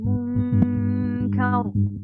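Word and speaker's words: مُنْكَر: Munkar. Ada kaf, suara kaf di sana. Di huruf nun itu ada suara kaf.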